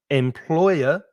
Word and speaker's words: employer: the salary the worker now be careful of the stress employer three syllables the stress is in